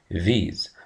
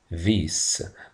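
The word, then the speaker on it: these: قريبه مني بقول فيز ولاحظ انها بتتنطق فيز وليس فيس يعني الاس هنا مش منطوقه اس منطوقه زي زي صوت حرف الزي فبقول ذز عندي كمان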